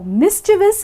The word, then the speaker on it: mischievous: Now, I've heard a lot of people actually forget this I here and pronounce this word as mischievous. No, mischievous is wrong. The correct pronunciation is mischievous. So it's mischievous. Do not forget to pronounce this I. I is very important.